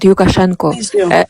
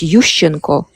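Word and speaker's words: Yushchenko: you so bad because you said yukashenko and I didn't and I didn't understand who you mean yanukovish or lucenko. So when you when you pronounce yukashenko, people think it's lucenko. So when you talk about topic, you're supposed to, you know, at least know pronunciation of of those people who you're talking about because it's yusheno. It's yanovich.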